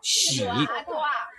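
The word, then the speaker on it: 囍: the room that is a Double Happiness in pronunciation this character reads she I told you last time Chinese characters are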